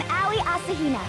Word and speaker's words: Aoi Asahina: I've always had trouble pronouncing this name correctly. Could you do it again for me, please? Heya! I'm Aoi Asuhina.